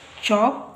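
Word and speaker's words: chalk: ಇವತ್ತು ನೋಡಿ ಈಗ ಇಲ್ಲಿ ಚಾಕ್ ಪೀಸ್ ಯಾವಾಗ್ಲೂನು ಇಲ್ಲಿ ವಲ್ಸ್ ನೋಡ್ಕೊಳಿ ನೋಡಿ ಇಲ್ಲಿ ಸಿ ಎಚ್ ಎ ಇಲ್ಲಿ ಚಾಕ್ ಪೀಸ್ ಇಲ್ಲಿ ಐ ಮತ್ತೆ ಇ ಬಂದಾಗ ಇ ನ ಉಚ್ಚಾರ ಬರುತ್ತೆ ಇಲ್ಲಿ L silent so ಚಾಕ್ piece ಅಂದರೆ ಸೀಮೆ ಸುಣ್ಣ ಇಲ್ಲಿ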